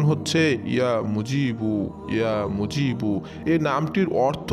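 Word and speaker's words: يا مجيب: তারপরে আপনারা ভিডিও স্ক্রিনের উপরে দেখতে পাচ্ছেন আল্লাহ রাব্বুল আলামিনের গুণবাচক সিফাতে একটি নাম, নামটির উচ্চারণ হচ্ছে ইয়া মুজিবু, ইয়া মুজিবু।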